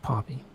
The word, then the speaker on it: Pompey: Barry Briscoe as Pompey, which is funny. It looks like Pompeii, but it's pronounced Pompey.